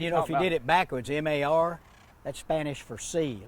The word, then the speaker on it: mar: And if you did it backwards, M-A-R, that's Spanish for sea, like the sea, the ocean, sea. Mar. You roll your R. Mar. Well, you don't have to on a single R, no.